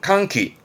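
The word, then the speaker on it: 歓喜: 발음은 칸키 환희 눈물을 흘리고 있습니다.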